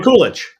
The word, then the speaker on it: Mikulić: bet it would be as hard as to pronounce as my first It's name. Mikulić.